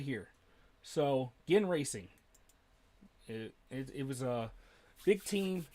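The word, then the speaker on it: Ginn Racing: Okay, so it is pronounced Gin Racing for some reason.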